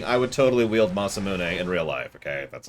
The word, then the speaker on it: Masamune: Or the Mazmune, as I like to call it. And people are like, that's not how it's pronounced. And I'll say, that's how my sword is pronounced.